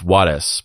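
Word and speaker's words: Juárez: And if you were to pronounce it the correct way, it's Juarez, but I'm just going to say it the white way.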